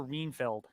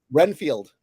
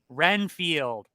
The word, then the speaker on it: Renfield: wall good evening good evening you're Dracula I'm reinfeld reinfeld isn't it reinfeld or reenfield Renfield Renfield thank you I never know would you ever